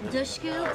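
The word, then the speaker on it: Dushku: perfect pick that's Elijah dushu pronounced like push D tush tush I love really a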